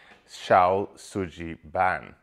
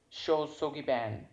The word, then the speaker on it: Shou Sugi Ban: japanese wood burning technique xiao tsuji now i've almost certainly got the pronunciation of that wrong show soggy ban yep i got it wrong however the technique remains